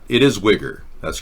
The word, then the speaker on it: Uyghur: This is the Chinese pronunciation. Uyghur.